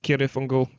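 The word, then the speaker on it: Cirith Ungol: in that subject is Sirif Ungol, or as Tolkien pronounced it, Kirith Ungol. But I read they changed it to the soft C to make it easier for Americans to pronounce.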